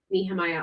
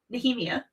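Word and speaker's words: Nehemia: Nhemia. Nhemia. Yes, that is how they say it in the books.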